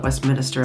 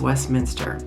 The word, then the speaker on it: Westminster: the way it's spelled Westminster is Westminster not Westminister and it's not spelled Westminister but you still hear locals call it Westminister as well but it's Westminster couple of the ones that